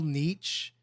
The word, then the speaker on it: niche: Little I got hit on this earlier today on my stream, by the way, like how I pronounced it incorrectly. It should be niche. Niche. But I always want to say niche, like a little niche.